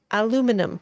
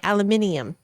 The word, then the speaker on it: aluminium: they say it isn't that a different word aluminum we say aluminum and they say aluminium oh yeah yes um they're already going with